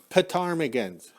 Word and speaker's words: ptarmigan: we have these little petarmigans it's actually spelled with a p and it's ptarmigans we call them fatarmigan they fly low to